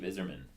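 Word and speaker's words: Yzerman: good 7-3 win for Tampa Bay GM Steve izzerman the lightning Steve is here and Eve is pronounced is Steve is yerman so Tech what do you got for us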